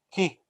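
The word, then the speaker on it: chi: Para nós aqui, nós chamaríamos em português de X, mas no alfabeto grego, ela se chama Ki, né? C-H-I, pronuncia Ki, ok?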